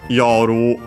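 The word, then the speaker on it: 夜: Uh there is also uh uh yoru as a noun. Uh it's the noun for uh night accent on the first more but here a verb.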